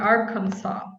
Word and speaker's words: Arkansas: well all right um arkansas um you drop the ass the last s yeah i'd have to